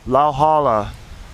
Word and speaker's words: Lauhala: Heiau is spelled H-E-I-A-U. This is a tree that's very important to Hawaiian culture. It's called Lauhala, L-A-U-H-A-L-A.